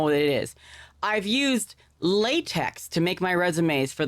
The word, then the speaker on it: LaTeX: I don't remember hearing about a latex in college. I do remember hearing about a latex at the BDSM club though. Pronounced lat which is why they chose a sussy acronym.